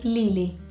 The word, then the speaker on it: Lily: Number 7, Lily, and in Portuguese you'd probably say Lili, which is not that much difference, but it is enough for you to hear the difference.